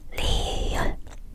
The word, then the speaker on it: 리을: âm the Tên của cái này[ㄹ] là 리을 tiếp theo ㅁ âm [m] tên của cái